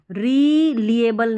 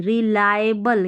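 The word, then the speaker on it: reliable: रिएबल नहीं रिलायबल यानी कि विश्वासनीय भरोसेमंद है।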